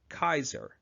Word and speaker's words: Caesar: pronounced today for example in Latin the letter C would have been pronounced hard almost like a que thus the great Roman leader Caesar would have actually been pronounced more like Kaiser moreover J's were pronounced as wise so to pronounce his name the way he would have said it you would call him Julius Kaiser after Caesar died future